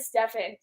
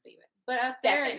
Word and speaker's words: Stephen: pronounced it as no i said stefan but it was just because there was stefan stephen steve finn it's stephen you read the haste